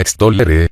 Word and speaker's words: extollere: La tercera palabra de nuestra lista se pronunciaba extollere, con dos l's, o más bien con una l prolongada, que en latín vulgar